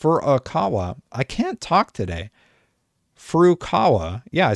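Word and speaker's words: Furukawa: f aawa f aawa i can't talk today F Kawa yeah I said it right the president of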